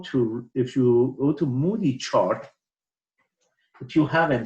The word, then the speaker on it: Moody: three seven five and using the Moody okay Moody chart that's how it's pronounced okay I for the last 45 years